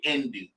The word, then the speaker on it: Hindu: n d like Indonesia the H is silent in Hindu is really indu it's Indo indu there